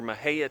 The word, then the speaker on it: Mexia: Fort Parker is located near Maha Texas or Mexia if you aren't from around here don't know how it's pronounced um we searched for